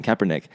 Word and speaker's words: Kaepernick: And when Colin Kaepernick, I keep saying neck, I know how to say his name, Kaepernick, started kneeling and sitting.